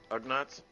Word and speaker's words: Ugnaught: Uh, At this point, the um, how do you pronounce it again? Undark? No, not that sounds like Gundark. The uh, Ugnaughts?